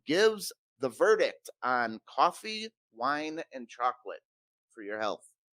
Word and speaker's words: Wein: Woo, wine, woo, Still wine.